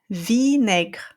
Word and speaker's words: vinaigre: Now, if I have a word with the same group of letters, but followed by a vowel sound, then we're going to pronounce I. Du vinaigre. That's vinegar. Okay?